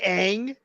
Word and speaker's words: Aang: that in mind did you just call me Aang at least I pronounced it right I was like wait a